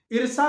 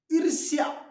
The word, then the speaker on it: ईर्ष्या: ईर्षा नहीं, ईर्ष्या, आधा स, मूर्धन्य आधा स, य के ऊपर र, ऊपर र, उड़त र, तो ईर्ष्या क्या होना चाहिए? ईर्ष्या।